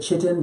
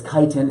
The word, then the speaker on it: chitin: there's another word say or chitin or I pronounce it chitin but its chitin is how it's pronounced I was confused at